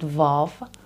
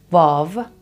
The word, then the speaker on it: و: This one is called vav, vav, and is pronounced v, like v. In some Persian accents and dialects, it's pronounced like a w, which we don't have in standard Persian.